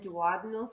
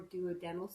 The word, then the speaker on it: duodenal: So the malabsorptive and the combination bypasses and duodenal switch or duodenal switch. Right, depends on where you're from, how you say it.